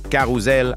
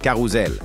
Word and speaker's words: carrousel: Il faut dire carrousel avec un Z. Répète après moi, carrousel. Carrousel.